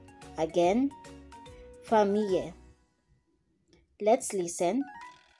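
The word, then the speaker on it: famille: which means family here double l is pronounced like y again for me let's listen for me for me letter j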